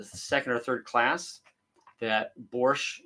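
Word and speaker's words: borsch: or third class that borch is pronounced without a t on the end right our teacher was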